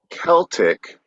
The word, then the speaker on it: Celtic: So Celtic, pronounced with the hard C, is an outlier in English phonology. Nearly every other English word beginning with CE has a soft C sound, like cedar, ceiling, cell, cement, scent, cereal, certain.